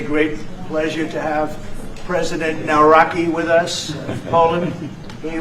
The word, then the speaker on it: Nawrocki: It's a great pleasure to have President Naraki with us in Poland.